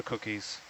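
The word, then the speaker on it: Kuki: And sometimes we spell it in a Cook Islands Māori way, K-U-K-I. Cookie, right? Yeah.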